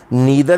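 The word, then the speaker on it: neither: फिर है नाइदर, और इसका जो अदर प्रोनाउंसिएशन है जो ज़्यादातर इस्तेमाल होता है वो नीदर इस्तेमाल होता है, लेकिन मुझे नाइदर कहना पसंद है, इसलिए मैं नाइदर कह रहा हूँ।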